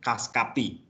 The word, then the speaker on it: Cuscapi: cara bacanya gimana sih khas cap ini kita sebut dari dua kata yaitu terdiri dari khas customer tapi Capital gitu Jadi kita baca khas kopi ya cuma tulisannya cuscapi ya bebas gitu Mana yang